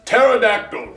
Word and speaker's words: pterodactyl: Possum starts with a P, and pterodactyl starts with a T. The P is silent.